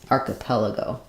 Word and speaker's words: archipelago: at the end so it sounds like AR arel go archipelago um yeah so it's a little bit strange spelling we do have the CH as K in several words and names also in archaeology um Etc so it's not a totally uncommon combination for CH to say on the C instead of the CH sound um yeah uh good